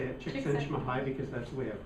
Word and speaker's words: Csikszentmihalyi: Have you read anything by Csikszentmihalyi?